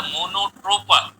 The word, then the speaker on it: मोनोट्रोपा: दूसरा एग्जाम्पल है मोनोट्रोपा, ये भी इसकी स्पेलिंग में MONOTRA लिखा हुआ, RA नहीं है, सही लफ्ज है मोनोट्रोपा।